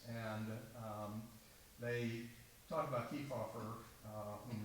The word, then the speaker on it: Kefauver: um they talked about ke offer uh whom they Mis pronounce his name they called him s keer and and called him